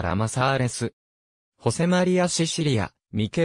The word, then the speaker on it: ラマサーレス: に出身の画家ら混ざれずは英語風の発音でありガリシア語スペイン語ではラマサーレスホセマリアシシリアミケ